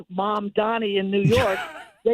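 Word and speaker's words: Mamdani: I think of my mother and then Danny is a person I know and that's my little way to remember to pronounce it correctly.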